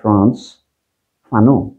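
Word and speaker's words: Frantz Fanon: আমি অতি সংক্ষেপে বলছি, আলজেরিয়ার মুক্তি সংগ্রামীদের একজন নেতা ছিলেন এক ভদ্রলোক, তার নাম হলো ফ্রান্স, উচ্চারণ হলে ফ্রান্স ফানো, তার নামও আপনারা অনেকে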